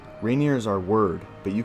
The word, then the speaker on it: Rainier: That's not how you pronounce it. It's not Rainier. It's not Rainier. It's not Rainier. It's Rainier.